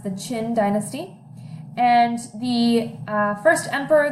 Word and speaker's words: Qin: history the qin dynasty is the first is pronounced the qin dynasty and the first emperor the major emperor